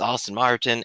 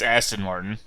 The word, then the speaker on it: Aston Martin: james bond and his austin martin and kit from knight rider i believe it's aston martin okay you know i'm